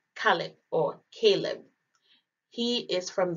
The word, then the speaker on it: Caleb: In Arabic, Caleb is pronounced Khalib, and dog is pronounced Al-Kalb.